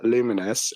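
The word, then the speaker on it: Lumines: Uh, Luminous, which I'm reliably told is how you pronounce it, Arise.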